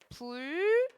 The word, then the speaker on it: 분류: 아니면 분류 이렇게 발음해요? 얘 유 막 일어났네. 봐봐. 그러면은 봐봐. 분 류는요. 분류 발음 안 하고요. 뒤에 있는 리을 때문에 앞에 있는 애가 불류 이렇게 발음되네.